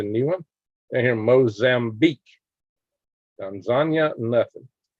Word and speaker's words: Tanzania: Tanzania, nothing. That's the way you pronounce it, not Tanzania, it's Tanzania. Philippines got some earthquakes.